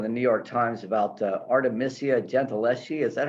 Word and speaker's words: Artemisia Gentileschi: Well, in the meantime, can I tell people there's a wonderful article in the New York Times about Artemisia Gentileschi.